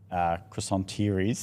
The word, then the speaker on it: croissanterie: through, but also, I don't drive past other croissanteries, is that the word? Croissanterie? Croissanteries. Perfect. Thanks. I'm trying to say it pronounce it how you were pronouncing it.